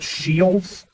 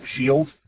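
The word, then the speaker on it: Scheels: have this place called shields uh basically it's spelled s c h like school and e e l s like eels shields and basically it's the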